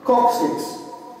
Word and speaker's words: coccyx: And in the English language, this bone is referred to as, the way you pronounce it is coccyx.